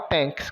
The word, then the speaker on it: thanks: formal thank you informal thanks como você está na casa de um amigo É cabível a informalidade então T com som de t o h é mudo o a com som